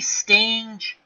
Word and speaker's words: Stange: Stange nods his head. Here's the pitch to Malzone, 3-2. And Malzone works a walk. Good job by Frank. Hard G, Al. Hard G. Okay. Stang.